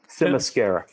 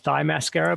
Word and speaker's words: Themyscira: Themyscira. Okay, and do you think it's pronounced differently, Andy? No. I always called it thigh mascara, but I knew that was wrong.